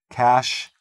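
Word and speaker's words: cache: cash clear your cookies cash spelled like this but pronounced like the money cash okay make sure you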